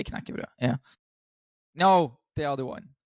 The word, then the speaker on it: knekkebrød: You actually pronounce it pretty well. Knekkebrød.